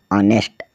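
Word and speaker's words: honest: मतलब सम्मान एच ओ एन ई एस टी ऑनेस्ट ऑनेस्ट मतलब ईमानदार एच ओ यू आर आवर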